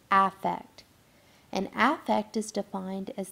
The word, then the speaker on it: affect: idea of aect so it looks like the word effect but it's pronounced in the world of psychology as affect and affect is defined